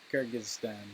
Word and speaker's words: Kyrgyzstan: How do you pronounce that? Kyrgyzstan. Oh, Kyrgyzstan? That makes more sense. Nationality. Yeah, Kyrgyzstan.